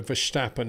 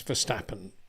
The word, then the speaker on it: Verstappen: thing because um I do notice I've got some Dutch friends and quite often they they do a sh for verstappen and DeVries and so I don't know so he's this is a build up okay it's a build up say why say Max for schnapping because I've got some Dutch friends who do say Max verstappen Max verstappen I know you're saying it's Max verstappen John but um actually I